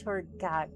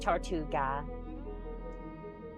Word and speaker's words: Tortuga: Speaking in Rahit person, Speartide's thing, also it's pronounced like this, Tortuga. I believe that's the way you try to pronounce that.